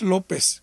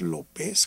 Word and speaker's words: Lopes: hoy me decía Elías López, y yo decía, no, es López, con acento en la E, y ese al final.